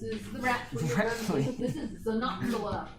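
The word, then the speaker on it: Xenopsylla: This is Xenoxala, spelled with an X at the front because an X at the front is pronounced with a Z sound.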